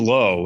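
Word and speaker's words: Lowe: Nathaniel low or low. What which one do we decide for Nathaniel? He's low.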